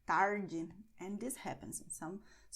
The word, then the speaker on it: tarde: Tarde, I pronounce it with the São Paulo accent, which is tarde. But in many other regions in Brazil, people will pronounce tarde instead.